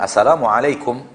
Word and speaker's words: assalamualaikum: Adapun asalamualaikum harusnya kumnya tidak ada mad asalamualaikum bukan asalamualaikum kumnya dipanjangkan salah itu ya secara pengucapan